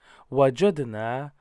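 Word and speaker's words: وجدنا: So if we go into the list of fa'ala, fa'ala, and you know that fa'alna is at the bottom, wajadna rhymes with fa'alna.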